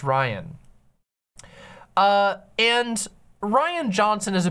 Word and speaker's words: Rian: I think it's pronounced Ryan.